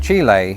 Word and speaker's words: Chile: full of themselves, when it turns out that Chile is closer to the pronunciation that you would hear in Chile.